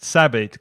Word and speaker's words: Sabid: Is it Sebo? How do you pronounce? Sabid. Call him Sabid.